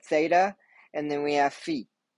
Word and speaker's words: phi: and then we have feet it's not phi phi is a um a wrong misprint it's a mispronunciation it is fee um so rho theta